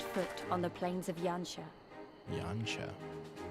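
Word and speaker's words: Yanxia: How the talking stopped when we first set foot on the plains of Yansha. Yansha. I would not have guessed it would be pronounced Yancha.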